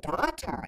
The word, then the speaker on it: daughter: The word daughter is difficult because of the vowel sound spelled AU but pronounced as the O.